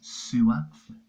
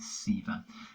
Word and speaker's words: Sewa: explain what sewer receiver reads sewer but the actual how you say it Seaver explain what Sivir is